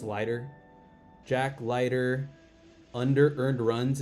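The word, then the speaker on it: Leiter: And then this Jack, I think you say I think it's pronounced lighter. I'm going to assume it's lighter.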